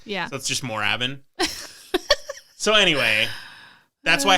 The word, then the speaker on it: Moorabbin: everyone was pronouncing it morabbin and you're missing that with the two o's yeah that's just moravin so anyway that's why